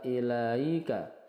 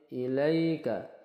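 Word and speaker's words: إِلَيْكَ: e sukunnya tidak muncul ilaika ilaika ini Lin ya Lin dibaca lentur ilaika bukan ilaika bukan juga ilika tapi ilaika W unzila sama munfasil ya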